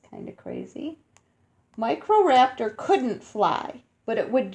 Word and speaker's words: Microraptor: is going say you say it like this Microraptor Microraptor Microraptor was the dinosaur that almost flew blonde feathers grew on microraptor's arms and legs and unlike other dinosaurs it could climb trees it's kind of crazy Microraptor couldn't fly but it would jump from a